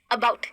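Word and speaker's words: about: America, अबाउट, ये क्या है, अ। ये अ छोटा है, जैसे मैं बोलती हूँ अस, तो अ को बोलने में बहुत देर नहीं लगती, तो ये अस, अ, खत्म।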